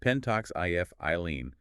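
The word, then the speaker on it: pentoxifylline: The regimen is ptoxifilin and that's pronounced penttox if iene at 400 milligrams orally two or three times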